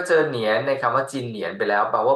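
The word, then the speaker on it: 今年: ครับ ถัด มา ครับ จีอิน จีน เสียง หนึ จิน เนอ เอียน เนียน สิง 2 เหนียน รวม กัน เป็น จิน เหนียน จิน ตัว เดียว แปล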